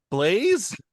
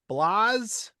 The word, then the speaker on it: Blaise: I can't pronounce this name. This is just I know it's a history person. Blaze. Blas.